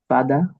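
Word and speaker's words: father: ফাদা ফাদা ফাদা ফাদা আচ্ছা এর রডার উচ্চারণ হবে না। আর আমেরিকান কি হবে? ফাদার আমেরিকানের র উচ্চারণ হবে।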